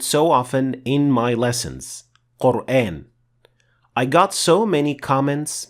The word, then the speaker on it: Qur'an: the correct pronunciation is quran and not quran for a very simple reason in arabic letters are either full mouth or empty mouth these are the seven